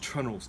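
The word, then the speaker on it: treenail: they're actually called a tree nail, spelt tree nail, sometimes pronounced trunnels, depending where you are.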